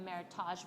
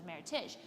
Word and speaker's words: Meritage: i told her like the difference between meritage verb versus meritash well meritage is how you pronounce it not meritage because it's a merriment of two heritages and so she had